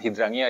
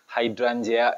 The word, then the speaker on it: hydrangea: Jadi nama bekennya itu kan Hydrangea, tapi sebenarnya pronounce-nya itu bukan Hydrangea ya, tapi Hydrangea ya, seperti itu kurang lebih.